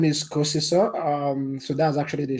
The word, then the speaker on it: Kosiso: are yeah yeah um so my name is cosiso um so that's actually the shutterstone form to pronounce my name there's a longer part of